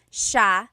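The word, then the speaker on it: siya: a note about pronunciation it's Sha Sha the SI iy combination makes the Sha sound in theog some regions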